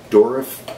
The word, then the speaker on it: Durif: It's also called I think it's pronounced durif, D-U-R-I-F.